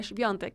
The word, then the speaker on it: Świątek: Además, le consulté a unos amigos que viven en Polonia cómo pronunciar su nombre, y es así, Świątek.